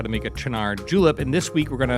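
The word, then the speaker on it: Cynar: Chinar, spelled Sinar. Pronounced 100 different ways, but now we know what I'm talking about, right?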